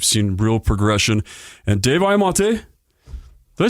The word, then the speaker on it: Imonti: And Dave Imonti, did I say your last name right? Close enough. Imonti. Yeah. I've heard it like 30 different ways. I'm not picky. Well, how do you say it? Imonti.